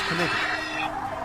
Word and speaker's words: knight: It was actually okay because you know how the knight has That a K in sounds front of it. very That's because a long time ago it was actually pronounced knigget.